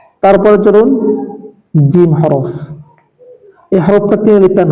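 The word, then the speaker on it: جيم: তারপরে চলুন জিম হরফ। এই হরফটা তিনলিপ টান হবে এবং এটি উচ্চারণ হবে জিহ্বার মধ্যখান তার বরাবর উপরের তালুর সঙ্গে লাগিয়ে।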